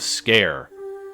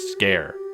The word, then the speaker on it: Sker: while is made of scare it's pronounced scare not SCAR or skar or whatever the it's scare dude so made of scare